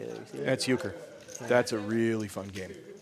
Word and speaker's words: euchre: I don't even know how to pronounce that one. What Joseph say there? You see that? That's euchre.